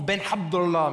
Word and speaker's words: Ben Abdallah: m'appelle Cédric Ben Abdallah ça se prononce ben abdah mais je j'assume pas